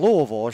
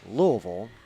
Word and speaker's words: Louisville: who was born in louisville she will be appreciative of the fact that i pronounced it correctly it's louisville not louisville for anyone listening out there it's not louisville it's louisville if i get nothing right